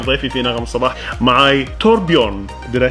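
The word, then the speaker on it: Torbjørn: Okay, so معاي داخل الاستوديو هنا كان ضيفي في نغم الصباح معاي توربيون.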